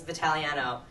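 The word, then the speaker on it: Vitagliano: I mean, my last name is Vitaliano. It's got a silent G in there.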